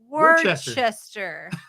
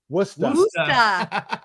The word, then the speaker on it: Worcester: Do you know how we pronounce that word? How? Worcester. No, this is good because we don't want to sound like we don't know what we're talking about. There's no R in it.